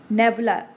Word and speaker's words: nebula: ये थोड़ा सा फनी टाइप का है, नेबुला, इसको थोड़ा सा प्रोनाउंसिएट करिए, नेबुला, ना बोलो, ना बोलो।